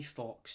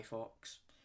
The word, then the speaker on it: Fawkes: his name was Guy Fawkes. And the way it's not like a fox, like the animal fox.